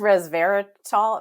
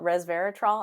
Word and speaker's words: resveratrol: story um that the res I can't even pronounce that res I think it's resveratol Resveratrol I have a hard time saying it yeah